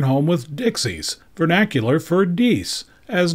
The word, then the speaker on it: dix: which is the French spelling for 10 and pronounced diese the reverse also has both French and English